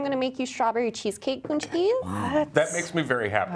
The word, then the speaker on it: pączki: Nikki's going to tell us about pączkis. Now, first of all, what is a pączki? So pączkis are Polish donuts. It's spelled really weird, but they're really, P-A-Z-C-K-I.